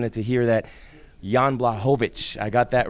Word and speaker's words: Blachowicz: your interviews and your fights, I've seen it pronounced 100 different ways, but we got it right here today. Blachowicz. Yes, almost. Blachowicz.